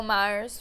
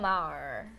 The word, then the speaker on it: Maher: Bill Myers for years.